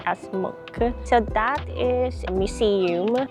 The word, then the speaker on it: Munch: So, the building over there is the Munch. It spells like Munch, but it's pronounced as Munch.